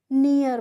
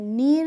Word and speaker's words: near: कैसे, NEAR है तो हम इसको नियर पढ़ते हैं, नीर नहीं पढ़ते हैं, क्या पढ़ते हैं, नियर।